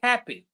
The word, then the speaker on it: happy: Let's take happy. I'm very happy today. So ha is stronger than p. Happy in English we say, right?